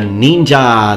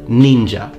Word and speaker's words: ninja: have been used but ninja is made of two characters the first one pronounced nin in yomi and the